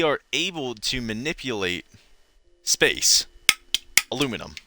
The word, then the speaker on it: aluminum: Aluminium is the scientific term, but it's actually pronounced aluminum.